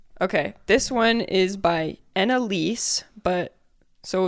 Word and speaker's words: Ennalysse: This one is by Annalise, but so it's spelled ENNALYSSE on Reddit.